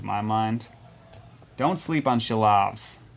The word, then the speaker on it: Silovs: And there's no H in his name. It's just the way he pronounces it. So it looks like Silovs. In case anybody wants to look into him. He pronounces his name Shilovs. But there's no actual H there.